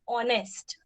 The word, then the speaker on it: honest: Okay, we have an example of a word which starts with a silent h, that is honest.